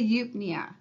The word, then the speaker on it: eupnea: We can say that the dorsal respiratory group, those very important neurons, sets the eupnea. It's E-U-P-N-E-A, and it is pronounced eupnea.